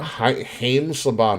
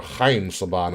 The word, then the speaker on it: Haim Saban: Haim Saban, or Chaim Saban is how you say his name.